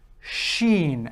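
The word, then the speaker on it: ش: of a scene becomes Shen and if you look at the beginning here the S and an H it's exactly the same way as in the English language the S and the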